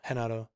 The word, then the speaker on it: Renato: It's got the pronunciations from the in-game recordings, and Hinato is Renato. Hinato is how it's pronounced.